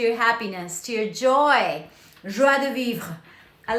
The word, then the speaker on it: joie de vivre: Joie de vivre. I like pronouncing that word, but sometimes when I'm speaking English, I don't do it perfectly. Anyway, it's joie, like joy, de vivre.